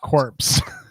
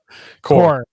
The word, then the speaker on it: Corps: back in there not corpse core core yeah the p is silent uh so this is